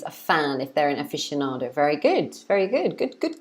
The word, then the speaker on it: aficionado: In English, we pronounce it aficionado. So we say aficionado, aficionado. So it's actually 5 syllables.